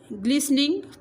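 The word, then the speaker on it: glistening: शी वॉज बिजीली arranging ग्लिसनिंग, टी इसमें silent होती है, ग्लिसनिंग होता है चमकदार, white plates on the counter, वो सफ़ेद प्लेटों को चमकाकर काउंटर पर रखती है।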